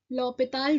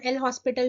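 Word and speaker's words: L'Hôpital: इसे एज a Indian हम एल हॉस्पिटल भी बोल देते हैं बट इसका एक्चुअल प्रोनाउंसिएशन जो होता है वो लॉपिताल होता है जिसका बैकग्राउंड एक फ्रांस का बैकग्राउंड है।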